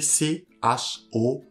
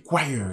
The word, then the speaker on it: choir: Ça s'écrit C-H-O-I-R. Donc, vous pouvez mettre pause, essayer de prononcer. Donc, ça se lit choir, la chorale.